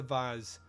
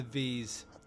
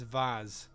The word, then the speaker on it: vase: overcome and drops the vase, or as the Americans say, drops the vase. Americans, it's vase. There's an A in there.